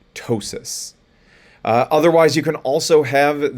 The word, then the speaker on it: ptosis: sounds like an s p t sounds like a t so psychiatrist and ptosis otherwise you can also